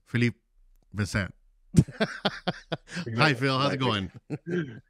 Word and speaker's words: Philippe Vincent: We have Philippe Vincent, or as he told me to call him Phil, because the proper pronunciation is in French, which is Philippe Vincent.